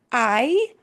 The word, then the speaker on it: ¿Hay: The only word you need is I. I. I, when you ask a question, I, I, I, I, I, it's like I. It's that sound of I. Yeah, it's spelled differently, but it's I.